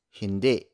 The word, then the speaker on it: hindi: So it's okay to say it like hindi with an e sound, as much as you can pronounce it as hindi.